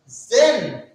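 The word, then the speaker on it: zehn: And after 9, the last number which we have is Zen. Is Zen. Is Zen. Z-E-H-N. Zen. What is Zen? Zen. It is 10, and for 10, we say Zen.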